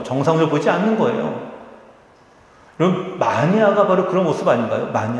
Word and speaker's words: 마니아: 매니아라고 하는 것이 아니라 마니아가 원래 발음인데요.